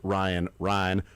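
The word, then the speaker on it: Ryne: But somebody from the town that this person's from would pronounce Ryan.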